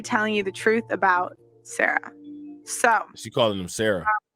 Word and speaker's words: Sa Ra: Today, I'm gonna be telling you the truth about Sarah. So she calling him Sarah. First off, what's up? His name is Sa Ra. His name is not Sarah.